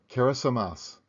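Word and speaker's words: Kiritimati: the Republic of kirati it is now called kirati which is a respelling of the English word Christmas in gilberti pronounced keramas back in December 1777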